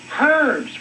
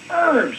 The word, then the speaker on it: herbs: with an h and the Americans usually pronounce it herbs with an e but I don't care